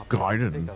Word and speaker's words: Gaiden: pronounce it. It's Gaiden.